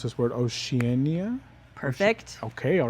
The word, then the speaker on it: Oceania: I know that the museum recently reopened the galleries for Arts of Africa and Arts of, and I'm going to mispronounce this word, Oceania?